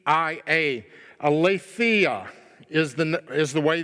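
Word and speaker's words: aletheia: a l e t h e i a a lethea is the is the way that you would pronounce it and here's what it means truth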